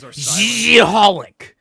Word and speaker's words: xxxHOLiC: crossover with another of their series called uh XXXholic um or however the you pronounce it. I don't know. I never read the thing, but it's pronounced Xiholic.